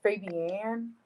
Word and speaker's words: Fabian: Yeah, but it's pronounced Fabian.